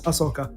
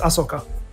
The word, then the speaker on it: Ahsoka: i've never really gone i'm going with the pronunciation in the tv show which is asaka that's okay okay that's that's how they pronounce it a tv show if you have it dubbed in your english in your in you know in india or whatever yeah probably different pronunciation uh in english here it's asoka the h usually are silent in english uh and like i